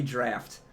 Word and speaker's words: draught: too and I was corrected that it's actually draft it's pronounced riff is actually how long oh my